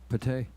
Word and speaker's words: Pate: chris got it right pate yeah it's kind of a baked potato baked potato nobody ever